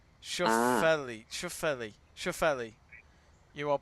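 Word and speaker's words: Schauffele: space and then it's f l e sha Shelli Shelli you are pronouncing it right he is gone now he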